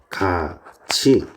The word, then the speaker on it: 같이: 나오는 해도지 이런 놈들입니다 자 발음이 구지 가치 해도지 이런 식으로 발음이 났죠 지금 보시게 되면 어